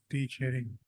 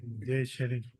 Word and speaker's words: Tsering: T Sharing. Sorry, J Sharing. J Sharing spelling TS. TSERING. T Okay. is silent. Okay.